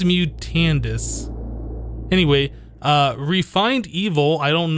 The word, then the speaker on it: Mutandus: I think I was saying it wrong for the last few episodes. I believe it's Mutandus.